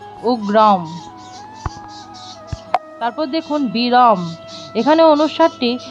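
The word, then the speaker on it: উগ্রং: অনুস্বারটি শব্দের শেষে আছে শব্দের শেষে যদি অনুস্বার থাকে তাহলে উচ্চারণ হবে হসন্ত যুক্ত ম অর্থাৎ এখানে উচ্চারণটি হবে উগ্রম উগ্রম তারপর দেখুন বিরাম এখানে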